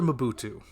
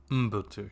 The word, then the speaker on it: Mbutu: Mabutu. You can spell that. Mbutu. Oh, Dr. Mbutu. Okay. It wouldn't be Ma, it would be Mbutu, yeah.